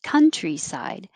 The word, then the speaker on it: countryside: Countryside. And the stressed vowel is as in up.